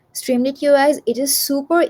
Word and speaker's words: Streamlit: My favorite thing is Streamlight. Streamlit I think it's pronounced. Yes, Streamlit.